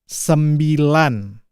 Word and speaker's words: sembilan: and nine in bahasa Indonesia is sembilan sem lan it is also three syllables sembilan semi lan sembilan